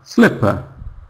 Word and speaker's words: slipper: So when you see eer spelling, you know that this word, this syllable is unstressed. It's not stressed. You know it's unstressed. For example, sl the second syllable is just p-p very quiet one. Sle is loud. It's big. It's strong. But p it's weak. Slipper.